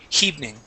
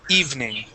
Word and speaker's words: evening: word evening okay uh you pronounce a small H in front of that saying heing okay so I want to I want to practice eliminating that H and only pronouncing the vowel sound so instead of saying evening the word is evening okay evening okay so let's uh